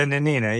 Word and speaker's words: Nanina: And so they come up with, is it the Nanina? Is that how you say it? The Nanina, yeah. It's a sealing vessel.